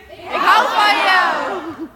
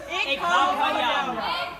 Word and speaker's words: Ik hou van jou: Ik hou van jou. Ik hou van jou.